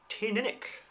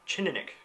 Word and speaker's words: Teaninich: I've had it from two completely different Scotsmen, two different pronunciations, and one began with a ch, more like a Teaninich, so who knows really.